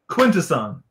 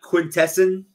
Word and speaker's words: Quintesson: right here this is how do you pronounce it quintesson is that the official pronunciation i think so not not quintessen no but you watched a lot